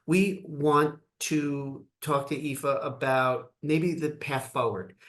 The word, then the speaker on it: Aoife: how to pronounce it it's spelled aoi f and it's pronounced epha and my full name